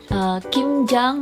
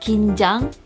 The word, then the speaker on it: 김장: aware in Korean culture, kimjang may sound like kinjang, which is nervousness in Korean.